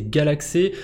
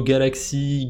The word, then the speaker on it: Galxe: sur le côté social c'est galaxé alors je sais pas si ça se prononce comme ça si c'est plutôt Galaxy galxé on s'en fout comment on le prononce c'est pas le problème